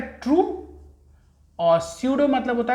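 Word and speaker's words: pseudo: देखो P silent है, हम पढ़ेंगे स्यूडो metameric, स्यूडो metameric segmentation, स्यूडो metameric segmentation, स्यूडो metameric segmentation.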